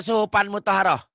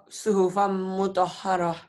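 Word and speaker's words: صحفًا مطهرة: Boleh enggak baca suhufan mutoharah? Tidak. Salah. Harusnya benar gimana? Suhufan mutoharah. Iya. Suhufan ditahan ya. Dengung ada dengungnya. Suhufam mutahharah.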